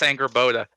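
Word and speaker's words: Angrboða: So And Anger Boda, the girl at the very end of this trailer, is that how you from- pronounce that? yeah, it's Anger Boda.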